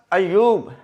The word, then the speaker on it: ایوب: اچھا جی، اگلا لفظ ایوب، ایوب علیہ السلام، اس میں یہ ہے کہ یہ کے اوپر شد اور پیش ہے۔ بعض لوگ سپیلنگ انگلش